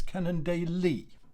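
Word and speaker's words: Cannondale: changed over the years they always emphasize well they always put the emphasis on the final e of a word so this is canon daily right canon daily right it doesn't have to be you don't have to put the emphasis on the day you can just sort of brush over the day so long as you get that final emphasis on the e at the end of the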